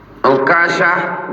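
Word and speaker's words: عكاشة: Ukashah bi dhammil ain, cara membaca akashah, ikashah, ukashah bi dhammil ain, pakai dhammah. Wa tasydid kaf, kafnya pakai tasydid.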